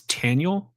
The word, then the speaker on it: Taniel: Uh and I his name is Taniel. Taniel. Yeah, Daniel. I don't know why I said Daniel for some reason. It's I think it's spelled pretty much the same just with a T instead of a D.